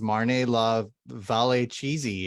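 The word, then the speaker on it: Marne-la-Vallée Chessy: I don't know why that's so hard to pronounce. It's Marne La Valet Chey.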